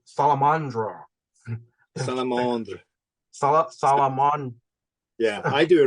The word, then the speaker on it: Salamandre: Now, people can pronounce it either Salamandre, or I'm going to try to pronounce the French word, and I.N.J., just correct me if I'm wrong. Salamandre. Salamandre.